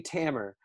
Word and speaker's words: Tamer: It's actually Tamer, like a hammer but with a T, but phonetically it looks like Tamer.